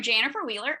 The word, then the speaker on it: Janifer Wheeler: business hi i am jennifer wheeler and it is spelled exactly it is pronounced exactly the way you see it spelled there's a funny story